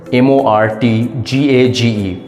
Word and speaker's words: mortgage: pronunciation how would you pronounce the first word m o r t g a g e the correct pronunciation is mortgage mortgage it's not morgage it's